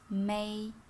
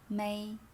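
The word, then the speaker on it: 美: certain tone mark m-e-i without a stone is may may make it with the sound is beautiful i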